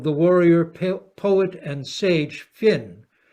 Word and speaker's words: Fionn: An ancient Irish tale of the warrior, poet, and sage Finn, Fionn sometimes pronounced, we tended outside Ireland to pronounce it as Finn, recounts how, when camped